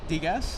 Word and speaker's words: Degas: Degas. That's how you pronounce it?